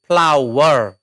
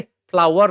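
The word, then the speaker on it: flour: पढ्न चाहिँ एफ एल ओ आर फ्लावर है। फ्लावर नै भन्नुहोला है।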